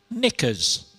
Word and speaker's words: knickers: Which letter is silent in the word knickers? Twenty-one teams got it. K was the answer.